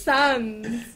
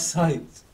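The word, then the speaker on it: Sainz: I thought it was Sands. No, it's Carlos Saints.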